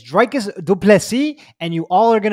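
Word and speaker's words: Dricus du Plessis: up this line um didn't you listen to drakis last time he told you exactly how to pronounce his name he said i'm tired of people saying it wrong and here you are every week saying people's names wrong especially the guy who told you not to say it wrong he even pronounced that to say it wrong dreikis said it he said my name is dracus duplessi and you all are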